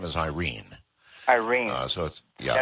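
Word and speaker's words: Airyn: her real name is Irene Irene so yeah it's actually pronounced Irene here pronunciation in in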